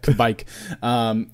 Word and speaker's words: Kveik: Kveik. I'm actually really surprised to hear you say new yeast. Maybe certainly new to a lot of us, like as American brewers, but right. Kveik yeast has been, just by definition, it's a